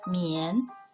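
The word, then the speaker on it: 宀: Its pronunciation, mian.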